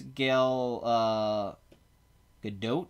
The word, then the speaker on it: Gal Gadot: he say up here the T is pronounced in Hebrew all the T okay all right I say so so it's gal gadot t' is a good